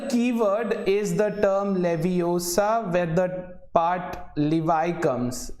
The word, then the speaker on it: Leviosa: is your uh wingardium leviosa it's leviosa not leviosa that's let's start with